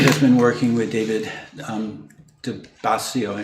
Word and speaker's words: DiBiasio: Jamie Hand has been working with David DiBiasio. Is that right? Am I getting his? DiBiasio. I get the emphasis on the wrong syllable.